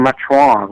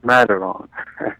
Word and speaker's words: Mataron: Yeah, you pronouncing Matron, but it's Mataron.